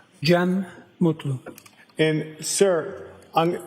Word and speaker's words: Gem Mutlu: Jen Mutlu.